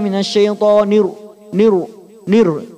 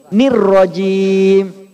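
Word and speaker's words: الرجيم: Nun di sini nunnya kasroh. Jadi benar-benar pastikan nun itu kasroh, itu ada sedikit senyum. Jangan identik domah Pak, jangan monyong. Jadi salah kalau bacanya a'udzubillahi minasyaitonir nir. Bukan Pak, bukan nir. Nir itu Bapak seakan-akan domah itu. Ni di sini syaitoni kasroh. Nir Pak.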